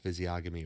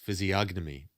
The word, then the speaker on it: physiognomy: pronounced all of it it's not physiogamy or physion it's physiognomy I have like zero Canadian